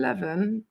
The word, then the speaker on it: Levan: slightly more devin than levin here i do i expect that though on a on our stream are it's more western levan does not rhyme with devon levin devon levin devons is here isn't it